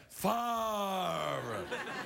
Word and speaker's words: Favre: I beg your pardon, I didn't say it properly. Brett Favre.